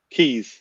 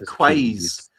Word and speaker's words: Quays: The other one starting with a Q. No. Keys. Oh, isn't it? Keys. Oh, Keys. I said Quays.